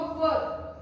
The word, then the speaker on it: were: इसको वेयर मत बोलिए, वेयर का मतलब होता है पहनना, वेयर प्रोनाउंसिएशन उसका अलग है, मत बोलिए वैसे वेयर, उसका प्रॉपर प्रोनाउंसिएशन होगा वर, WERE, वर।